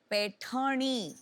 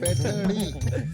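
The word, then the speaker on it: पैठणी: स्लोनी, पैठनी, वो जरा प्रोनाउंसिएशन इनका चेक कर दीजिए. पैठनी।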